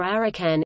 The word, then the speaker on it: 阿羅漢: In Japanese the pronunciation of the same Chinese characters is rakan ya. Luohan or arakan ya.